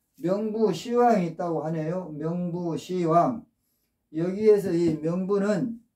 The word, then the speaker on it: 명부시왕: 합니다 그런데이 저승에는 또 명부 시왕이 있다고 하네요 명부시왕 여기에서이 명부는 저승이라는 뜻입니다 왕은 왕인데 그래서 명부 왕인데 불교에서는 이렇게 십을 시로 발음을 해서 명부 시 왕이라고 하네요 우리가 보통 어 죽으면 염라대왕한테